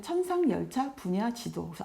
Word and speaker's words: 천상열차분야지도: 세계에서 자랑하는 그런 천군 돈대 제목의 천상열차분야지도 에요 발음을 할때 가끔 사람들은 천상열차분야지도 아니고 지동 가보다 하는데 그건 아니고 천성 하늘에